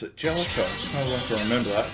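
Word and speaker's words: Jaleco: And now, take the excitement on the road with Bases Loaded for the Nintendo Game Boy from Jalico. Live action that never ends. That's how you pronounce it, Jellicoe.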